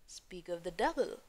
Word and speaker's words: speak of the devil: लेकिन एज a whole जब हम देखेंगे तो प्रोनाउंसिएशन क्या होगा? स्पीक ऑफ द डेविल। डेविल पे प्राइमरी स्ट्रेस हो जाएगा, स्पीक पे सेकेंडरी हो जाएगा।